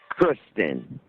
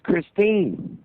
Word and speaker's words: Christine: about, having sex with Kristen. You didn't even say her name right. You kept saying Kristen, and her name's Christine.